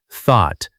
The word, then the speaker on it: thought: Let's work on a tricky sound today, the th sound in words like think, through, and thought. Put your tongue lightly between your teeth and blow air gently.